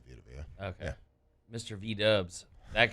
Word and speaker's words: Vita Vea: You just say Vita Vea.